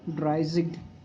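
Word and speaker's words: dreißig: For 30 it's dryzig, so it will be like dryzig. Actually this beta it's pronounced as zig, double S.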